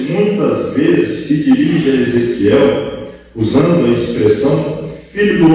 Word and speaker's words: Ezequiel: Ezequiel. É difícil pronunciar.